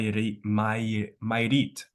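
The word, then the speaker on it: Mayrit: means like that so it has two syllables so my which means water and you read which is like a place for it okay yeah May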